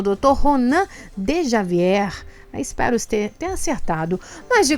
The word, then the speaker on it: Djavier: É Ronan de Javier mesmo.